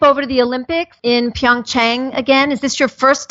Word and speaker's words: Pyeongchang: I haven't been to Pyeongchang yet. And I only say it Pyeongchang because we're being told that's the proper way to say it, but I also think it's Pyeongchang.